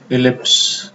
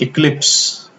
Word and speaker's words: ellipse: Equation of tangent to the ellipse. Okay, and boys, try to pronounce this word properly. It is ellipse and not eclipse. Eclipse नहीं है, ellipse.